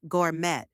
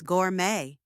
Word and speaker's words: gourmet: some people say say Gourmet pronouncing the T but now you know the t is silent so it's Gourmet now the next time